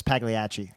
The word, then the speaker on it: Pagliacci: Yeah, and it's the correct pronunciation is Pagliacci.